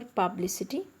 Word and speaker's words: publicity: So for publicity, the word is ending with I, T, Y. The stress is on the last but third syllable, that is anti-penultimate syllable.